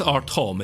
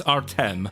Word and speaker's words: Artem: I don't think it's Artom, is it? It's Artem. Your name is Artem.